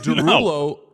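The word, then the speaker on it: Desrouleaux: do you know what Jason Derulo's last name is Derulo it's dulo and it's spelled d s r e like l e Au u x but he just makes it Derulo breaks it down except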